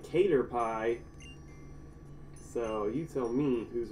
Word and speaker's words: Caterpie: names forget forget it I used to call Caterpie katha rippy and there's bucks too many letters like where'd you get that from it's really Caterpie cater pie so you tell me